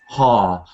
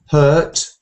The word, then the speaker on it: heart: their hearts on Portugal heart is um like car har not hurt hurt yourself in an accident